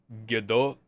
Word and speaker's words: Gadot: It's Gadot, but, you know, there's a slight T on the end.